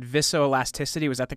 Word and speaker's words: viscoelasticity: And I guess one of the you said, and you can correct me if I have the pronunciation of this wrong. You said viscoelasticity.